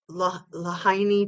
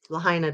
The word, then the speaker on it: Lahaina: over there and yeah the perfect circle around lahaini town I didn't say it right Lahaina Town um Perfect Circle and again sure those